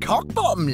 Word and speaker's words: Cockbottom: It's pronounced cock-bottom, love.